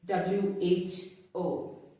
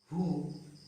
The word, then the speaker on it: who: W is also silent when the word starts with WHO. So this is not who, but it's who.